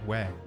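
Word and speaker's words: oui: thanks why we we is pronounced we right in French but you always hear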